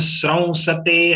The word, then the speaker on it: स्रंसते: This sraun is a joint letter of sa and ra. Normally, people get confused with stra also. So it is a sra, not stra, not stra.